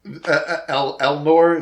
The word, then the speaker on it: Elnor: Because Elnor, is that how you say it?